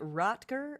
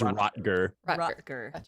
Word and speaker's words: Rottger: the horse is it is it rocker or roger it is rottger okay but the fact